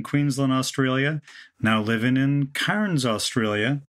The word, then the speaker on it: Cairns: Australia now living in Cairns Australia hope I'm pronouncing that correctly I love the way everybody says canes okay it is so